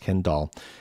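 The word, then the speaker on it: Kenn Dahl: Ken Dahl, like Barbara Dahl, Ken Dahl. His name is spelled K-E-N-N-D-A-H-L, but I assume it's pronounced Ken Dahl.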